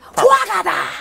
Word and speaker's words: Fuacata: Fuacata! There you go. That's the proper way to say it. Fuacata Films! Yes, that's... You have to say it with that intonation.